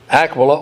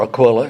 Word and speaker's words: Aquila: And Acts 18, Paul goes to Corinth and meets a couple named Aquila, or Aquila, it's pronounced both ways, his wife Priscilla.